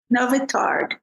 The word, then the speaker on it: Nowy Targ: Is that how you pronounce it? Nowy Targ, which means new market.